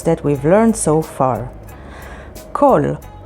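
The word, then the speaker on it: כל: all the letters that we've learned so far kol spelled with haf and lamid and means all clali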